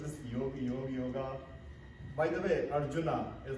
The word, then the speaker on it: Arjuna: By the way, Arjuna is not Arjuna, it is Arjun.